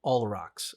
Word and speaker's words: Olrox: I also think it's Olrox. Olrox? Yeah. I keep saying it wrong.